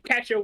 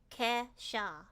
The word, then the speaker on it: Kesha: Casha was a wanted wonder. Wait, wait, wait. How do you say it properly? Casha. Casha. Kesha.